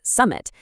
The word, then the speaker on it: SMMT: We're going to explore a platform called SMMT, which we pronounce as Summit, and we'll see exactly